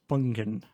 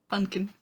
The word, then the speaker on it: Funkin': Make sure you pronounce that N. That is an important N. Funkin'. Funkin'.